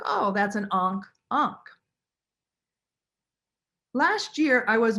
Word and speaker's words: ankh: mirror is today and the name for a mirror in ancient egyptian was ankh a-n-k-h and the word for everlasting life is unk a-n-k-h and some people say